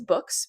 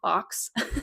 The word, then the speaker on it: Boox: The other company that I wanted to talk about is Books, Boox. I used to call it Box, but I know now that's not the correct way to pronounce it.